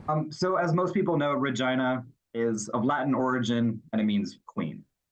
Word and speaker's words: Regina: So as most people know, Regina is of Latin origin and it means queen.